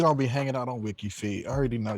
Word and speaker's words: WikiFeet: of those websites that people, just go on WikiFeed, like Mm-mm, And I that's a thought it was legit thing. pronounced WikiFeed. Mm-mm. And I was just like, that's kind of, WikiFeed, that makes perfect sense. But WikiFeet, it's just, I don't know, it's just a